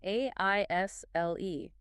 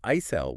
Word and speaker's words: aisle: A I S L E. Wait, there's an S in there. That's the trick. The S is completely silent. We do not say isel. We just say aisle.